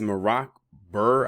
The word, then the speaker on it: Merak Burr: that out there but this guy's name is morac Burr I believe that's his name it's spelled Emy Emy a r k bur like Bill Burr and this happened in